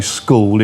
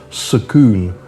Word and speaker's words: school: Ask them to say school, it's sakoon.